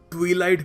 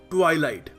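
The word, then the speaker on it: twilight: इस शब्द को कुछ लोग ट्विलाइट भी बोलते हैं, जो गलत है. इस शब्द की सही प्रोनाउंसिएशन है ट्वाइलाइट.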